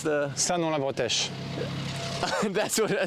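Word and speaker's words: Saint-Nom-la-Bretèche: How do you pronounce the... Sanon-la-Bretèche. That's what I say that again. Sanon-la-Bretèche.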